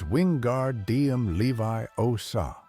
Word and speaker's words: Wingardium Leviosa: It's wingardium Levi Osa. Hermione corrects him with that tone we all know too well. Make the gar nice and long.